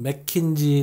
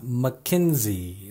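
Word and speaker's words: McKinsey: 컨설팅업체 이름이죠 외래 오르는 매킨지 라고 흔히 표기를 하지만 실제 발음은 마킨스 이가 아니라 마 켄지 라고 합니다 스테이트 말 코인 서보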